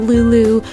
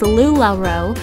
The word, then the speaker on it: Lula: macaroons with the little Lulu row uh unicorn and I know I'm pronouncing it Lulu it's Lula but I just maybe that